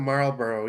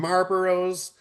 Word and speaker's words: Marlboro: So I love the fact that you're calling them Marlboro. You're pronouncing it correctly. Now, I was working at Casey's, people had all this they called them people would call them marbaros.